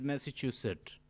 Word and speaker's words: Massachusetts: The pronunciation is Massachusetts.